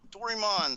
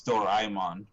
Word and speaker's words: Doraemon: live from rpg site dorymon story of seasons friends of the great kingdom launches on november 2nd it's doraemon by the way doraemon doraemon these damn games need to